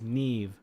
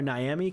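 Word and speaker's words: Naiamhe: I used to call her Niami cuz it's spelled N A I A M H E. So, I thought it was Miami. Like, I'm visiting Miami, but no, it's Neve.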